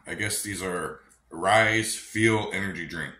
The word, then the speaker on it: Ryse: what's up YouTube family apparently I've been pronouncing these wrong I guess these are rise feel energy drink not fuel energy drink rise fuel energy drink uh today we got ring